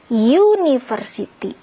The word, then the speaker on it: university: huruf vokal kan aiueo Hai tapi dibacanya sini University University jadi ini justru bukan and ini Jusuf karena kalau kita mau bilang sebuah universitas atau satu Universitas karena kita bacanya hiu University pakai y konsonan jadi ini ya hai